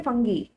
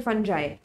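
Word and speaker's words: fungi: इस चीज को कहते हैं फंगी या फिर फंजाई, जैसे भी आप प्रोनाउंस करना चाहें। People pronounce it differently.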